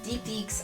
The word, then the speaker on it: Deek Deek: But I'm a furry, and I love all kinds of dumb animals, and Deek Deeks are... That's how you pronounce them, is Deek Deek, and they're very cute.